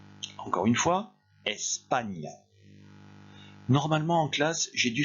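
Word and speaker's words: España: et ça se dit n'oubliez pas que ça ça se prononce comme g n en français ça se dit répétez après moi espagne encore une fois espagne normalement en classe j'ai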